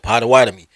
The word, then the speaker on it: Potawatomi: I've listened to native because the Potawatomi are from the Great Lakes region. I'm in Chicago, so Great Lakes region. I've gone to Michigan and Wisconsin and spoke to people who pronounced it Potawatomi.